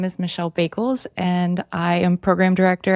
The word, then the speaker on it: Bakels: it's kind of like, it's not Bakels, it's like bagels, but with a K.